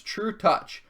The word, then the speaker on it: Trutacz: It's true touch because apparently Polish letters do not match the same phonetic spelling that that American letters would would spell.